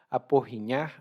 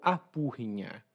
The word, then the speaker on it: aporrinhar: E lá no Ceará, de onde eu venho, aporrinhar a gente pronuncia como apurrinhar.